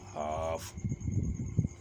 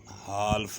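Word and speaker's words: half: हाफ एच एल एफ हाफ हाल्फ नहीं पढ़ेंगे क्योंकि एफ से पहले एल आ गया है हाफ जीओ एल एफ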